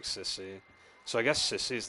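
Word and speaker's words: Cecie: I always pronounce her name as Ceci, but the way they say it sounds like Sissy.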